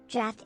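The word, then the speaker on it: draught: she's at renounce dra draft is pronounced as draft rhyming with craft it refers to the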